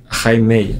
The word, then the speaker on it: Jaime: Je fonctionne avec la prononciation affichée sur Basketball Référence, mais. C'est bien Jaime ou pas ? Non. C'est Jaime, apparemment.